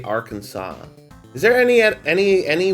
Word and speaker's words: Arkansas: Report to be cited in the rural town of Faulk, Arkansas. Hey, why do the uh why is Arkansas spelled as Arkansas's but you say Arkansas?